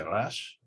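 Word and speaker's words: ריש: It makes a difference in certain words, the sort of R character, resh. Israelis pronounce it in the throat. They say rash. rather than resh up at the front of the mouth.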